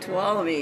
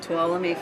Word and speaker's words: Tuolumne: Tuolumne, yep. And how do we remember how to say it? Tuolumne, follow me to Tuolumne.